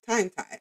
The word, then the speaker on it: TimeThai: tii artist oh no time time tie no time tie I said it right the artist name is